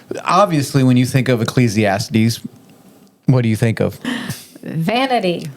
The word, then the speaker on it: Ecclesiastes: Okay, I pronounce it Ecclesiastes, and she's like, there's no I or E or whatever.